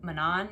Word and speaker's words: Manon: left and they've got manon now which apparently that's how you say it not gosh i don't